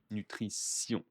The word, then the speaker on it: nutrition: Allez, donc ici, le vocabulaire, que l'on parle de nutrition, la nutrition, attention à la prononciation, hein, T-I-O-N est un S, nutrition.